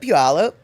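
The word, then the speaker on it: Puyallup: And how do you pronounce puallup? Puallup.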